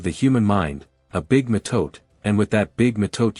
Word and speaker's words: metote: Your whole mind is a fog which the Toltecs called a metote, pronounced mhtoetay.